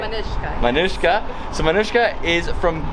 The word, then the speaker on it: Manushka: Manushka.